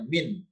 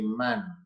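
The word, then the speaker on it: من: Berikutnya warna merah pasti huruf, maka bacanya min, tidak berbunyi man.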